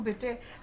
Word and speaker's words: bought: Bought नहीं, bought. देखो बेटे, प्रोनाउंसिएशन भी बहुत इम्पोर्टेंट है. BOAT होता है बोट, और बोट मतलब नाव, कश्ती. और ये क्या है? BOUGHT, बॉट. जैसे THOUGHT क्या होता है? थॉट. ऐसे ही बॉट, बॉट का मतलब खरीदना, थॉट का मतलब ख्याल.